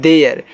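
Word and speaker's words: their: टी एच ई आई आर इसको पढ़ते हैं देयर और देयर का मतलब होता है उनका टी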